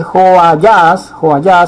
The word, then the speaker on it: Joayás: Dice Joayás, así como le había dicho que se pronuncia el nombre en hebreos.